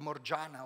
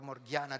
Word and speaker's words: Morgiana: But there is a slave girl called Morgiana, or Morgiana, depending on how you want to pronounce her, who was a slave